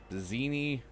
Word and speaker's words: Bizeni: Antilopians from the valley, whitetail of the forest, goatani, goatani of the islands, Bizeni rhymes with panini, penne, Bizene of the plains, equines of the steppes.